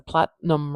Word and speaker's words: platinum: together Platinum it's a platinum ring Platinum Platinum ring uh let's place our primary stress marker it would go at the beginning of this word Platinum